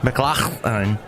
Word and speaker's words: McLachlan: name I have to get that in there McLaughlin and I saw her and this great performer